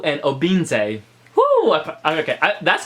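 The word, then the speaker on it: Obinze: wrote this down with phonetics to make sure pronounce it correctly which is FML loop and Oh beam say whoa okay that's correct cuz I listened to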